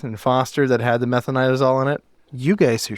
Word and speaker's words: metronidazole: Smith and Foster that had the metronidazole in it? You guys are so good at pronouncing all these names. It's metronidazole, assholes.